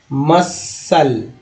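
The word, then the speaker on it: muscle: तो देखिए ईवेनेस ईवेनेस, fascinate fascinate, एक बात ये है, फ्लोरेसेंट फ्लोरेसेंट, सी साइलेंट है, मसल C silent मसल, of scene हो गया।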